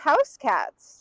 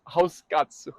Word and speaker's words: Hauskatze: Well, with that, um, I didn't know it was pronounced house cats. House house catsu.